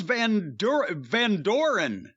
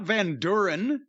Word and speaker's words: Van Doren: Charles Van Doren, not Van Duren.